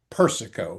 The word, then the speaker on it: Persico: I picked up a book uh by Joseph Persico. Am I pronouncing that one right?